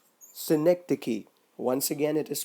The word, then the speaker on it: synecdoche: How it is pronounced? Synecdoche. Synecdoche is when a part represents the whole or the whole is represented by a part.